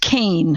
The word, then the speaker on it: Kean: Well, it's actually pronounced Kane, Howard. Kane. It's a Scottish name, and I've lived with it all my life, and it's always, nobody would ever know from reading it that it was pronounced Kane, like C-A-N-E, but that's how it's pronounced, so I'm stuck with that.